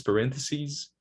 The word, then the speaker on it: parentheses: We change the vowel to the tense vowel E, and the final sound is voiced. So crisis, singular, crises. in the plural. The stress doesn't change, okay? It's still cry, stress syllable. But just to emphasize second syllable, it's sees, sees. So crises, analysis, analyses, parentheses, parentheses, basis, bases, okay? And another video from the